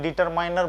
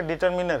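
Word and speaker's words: determiner: हम लोग क्या होता है ना कि थोड़ा स्लैंग लैंग्वेज में डिटरमाइनर बोल देते हैं, ठीक है, वाजिब में उच्चारण उसका डिटरमिनर है, ठीक।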